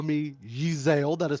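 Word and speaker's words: Yzaile: the sake of this you can call me yeezel that is spelled y-z-a-i-l-e um my character is a half-elf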